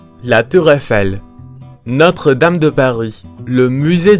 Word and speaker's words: Eiffel: Esta palabra nunca es pronunciada como Eiffel, que es algo que he escuchado mucho. En francés, siguiendo las reglas de pronunciación del francés, que las tiene, una combinación como EI generalmente produce a la vocal abierta E, o también, dependiendo del hablante, a la vocal cerrada E.